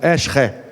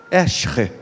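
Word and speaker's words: עזר: A palavra hebraica aqui é Ezer. Ezer. No hebraico a pronúncia seria algo parecido com Eshre. Eshre.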